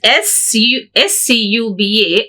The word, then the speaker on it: scuba: We pronounce this SCUBA as a word which we call acronym. It's abbreviation only, but we pronounce as a word, so it has become acronym.